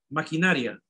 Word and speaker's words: maquinaria: La sílaba tónica es, subrayan a todo, na.